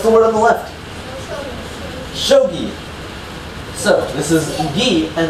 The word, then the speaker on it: Shogi: Shogi.